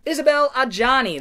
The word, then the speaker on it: Isabelle Adjani: Possession from 1981 with Sam Neill, and I can't pronounce her name. Isabelle Adjani, that's right. I could pronounce it, I couldn't remember it. Isabelle Adjani and Sam Neill.